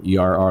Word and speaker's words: err: Wouldn't you kind of err on the, and it is ERR, look it up, pronounced wouldn't you err on the low side just to make sure you don't OD somebody?